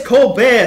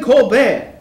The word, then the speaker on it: Colbert: stop saying that it's cold bear stephen colbert the t is silent the t is silent